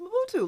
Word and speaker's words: Mobutu: Fatu rhymes with Mobutu.